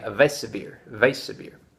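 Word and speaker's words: Weissbier: but I was saying weiss beer because I'm American i'm pronouncing the w as as a w I should be saying a vesa beer vase severe German w pronounced vee so thanks to I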